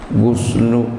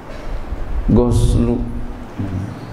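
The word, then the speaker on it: غسل: fuqaha itu doma ghainnya, guslu ya. Al guslu, guslu. Lakinnal fatha, lakinnal fatha afsahu, akan tapi fatha itu lebih fasih. Goslu, jadi goslu juga bisa makna mandi.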